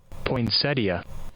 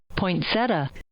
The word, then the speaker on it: poinsettia: Although, to be fair, Websters has two different ways to pronounce it. The one you just heard, poinsettia, which is what I've always called it, was the first, but they did offer this as well.